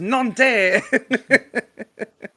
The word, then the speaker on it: Nantes: Uh, It's pronounced Nantes.